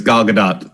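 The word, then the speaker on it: Gadot: pronounce her name it's gadat gdat is that how she the t is not silent the t is there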